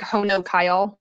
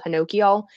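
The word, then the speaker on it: honokiol: n o ki o L it looks like ho no Kyle but apparently the proper pronounce called Hinoki all you want that to be a high percentage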